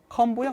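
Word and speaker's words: comb: 컴보형 안테나. 자, 원래 이게 묵음이라 했어요. 그래, 컴 안테나 이렇게.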